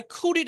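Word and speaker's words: could: এখন আমরা পড়ব আই কুড আই কুড আমি খেতে পারতাম। আই কুড ও ইউ এলডি। কিন্তু এলটা উচ্চারণ হবে না। এটার পুরোটা একসাথে উচ্চারণ কুড।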